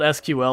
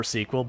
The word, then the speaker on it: SQL: of big ones are is that how squel is pronounced you can call it SQL or SQL both are acceptable I may you